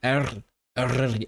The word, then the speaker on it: Eryri: Your pronunciation of Eryri seems fine to me. It's just thanks, Edward, but like I just don't. I think Eryri sounds wrong without the trill.